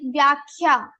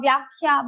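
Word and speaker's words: व्याख्या: Now you can say kha and kha vyakhya, but we say vyakhya, not vyakhya. So what we do is for the second letter we take first. When we do dvitva, we have to repeat. So we only take the first letter of the group.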